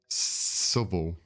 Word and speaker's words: Southwell: Hang on, let me pronounce it correctly. Southwell.